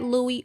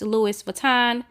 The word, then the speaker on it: Louis Vuitton: vuitton book and yes i know i said louie earlier that's just how i say it but it's pronounced louis vuitton and i decided to go with that orange